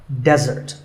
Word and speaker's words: desert: Here, the stress is on the first syllable, which is de, desert.